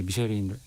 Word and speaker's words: 미쉐린: 미슐랭이라고도 발음하는 미슐랭 식당으로 이제 선정되는 그 과정도 되게 막 화제거리가 많이 되더라고요. 맞아요. 네. 무슨 뭐 암행어사처럼 몰래 가서 이렇게 점수를 매긴다면서요? 네. 사실 이제 2017년도에 우리나라에 미쉐린 가이드가 처음 들어왔는데 그때부터 굉장히 이슈가 컸었죠.